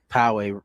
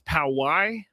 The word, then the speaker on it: Poway: I've been told that it's Poway. That's how you pronounce it. That. I know Tony doesn't want me to do this, but apparently the official pronunciation is Poway.